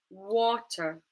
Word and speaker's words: water: Same with this word, water, water. The stress is in the first syllable, what. So then the schwa sound appears in the unstressed syllable, water, water, Okay, I'm